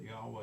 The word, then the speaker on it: Yahweh: it I said that I pronounced that Yahweh he said it's absolutely correct we don't say that